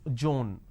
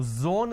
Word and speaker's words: zone: pronounce this as space instead of pronouncing zone they pronounce this as john now zone is different john doesn't work there's no such word there is no such